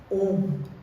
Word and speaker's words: Om: M three Matas and it is not pronounced as like how uh many um systems pronounce especially you see this pronunciation by uh the yoga people that is not how om has to be pronounced om is pronounced as om and om is not